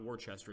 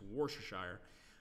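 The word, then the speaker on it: Worcestershire: how you pronounce it Worcester Shire not Worchester it's war Shire managed to take this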